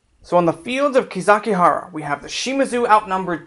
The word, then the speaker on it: Kizakihara: information on the battle, it is sometimes called Kizakibaru. Same characters in Japanese, just different way to pronounce them. So on the fields of Kizakihara, we have the Shimazu outnumbered 10-1.